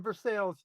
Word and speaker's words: Versailles: You're in Versailles. Because that's how we pronounce it.